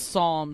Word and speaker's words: Psalm: Yes, I would say Palm, I wasn't raised, but I'm wrong. So right, I wasn't raised. I looked it up. Yeah, I saw somebody. So. Yeah, I saw somebody like, "You're saying it wrong." I'm like, "Oh shit, I better learn how to say this right." So it's Psalm.